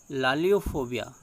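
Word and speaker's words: laliophobia: लैलोफोबिया, लालियोफोबिया दोनों प्रोनाउंस करते हैं।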